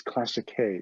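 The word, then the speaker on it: Classiche: classic prepared classic if it's it's not it's classic k is the correct pronunciation but it makes a difference in the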